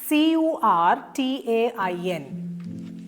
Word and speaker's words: curtain: CURTAIN. മൗണ്ടൻ പോലെ തന്നെയാണ് curtain. curtain. Stresses on the first syllable.